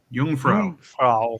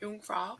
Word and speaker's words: Jungfrau: In German, the word for virgin is also, how do you pronounce that? Jungfrau. Jungfrau.